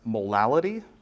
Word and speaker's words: molality: it's hard to say and that's molality and I will continue to say it like that to try and differentiate it from molarity because molality and molarity sound way too similar especially if you've never heard those words before so molality is